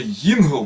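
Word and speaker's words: יינגל: Опять же, ингл, понимаете, вот они вот так вот именно ставят дот на втором месте, во второй букве, чтобы именно ингл произносили.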